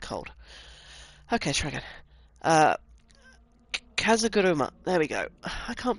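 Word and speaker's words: 風車: Now, a pinwheel is I've got to pronounce this. Okay, Kazagurigum. Bollocks. I can't pronounce with a cold. Okay, try again. Kazaguruma.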